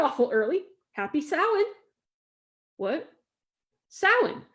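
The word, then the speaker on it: Samhain: Salin, spelled Sam Hayne, she said as if the syllables were actually the 27th and 28th letters of the alphabet.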